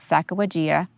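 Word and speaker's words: Sacagawea: i'm and i'm not i'm just going to pronounce it the way i pronounce it and the way i've heard many pronounce it but there are various pronunciations out there but the lady's name is sacawajia and she went on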